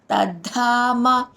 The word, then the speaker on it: తద్ధామ: యద్గత్వా ననివర్తంతే తద్ధామ తద్ధామ ద కింద ద వత్తు మా ప్రాణక్షరం ధ తద్ధామ పరమం మమ పరమం అక్కడ